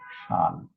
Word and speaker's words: Chasles: The spelling Chasles, but pronunciation will be Schall.